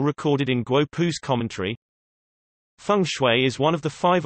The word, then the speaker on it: feng shui: Feng shui, Chinese, feng shui pronounced F, Wei, listen, also known as Chinese